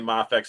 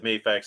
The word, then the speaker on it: Mafex: yeah yeah tomato Tom the reason I started saying mafex is because the people that when I said mayx everybody's correcting me and making comment you you saying it wrong so I try I